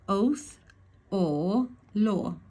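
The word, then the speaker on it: Othala: So we got that umam let's have a look pronunciation oath or law or oath or law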